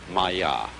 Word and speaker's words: māyā: I'm going to write that down for you pronounced Maya and this word comes from a root in